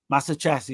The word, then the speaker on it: Massaccesi: Massaccesi, that's right.